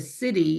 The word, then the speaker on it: siddhi: And then the third one, which is a city, it's spelled SIDDHI.